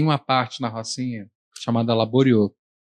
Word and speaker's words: Laboriaux: Quando eu escrevo um texto, tem uma parte na Rocinha chamada Laborieux. Se escreve como se fosse em francês, Laboriaux, AUX no final.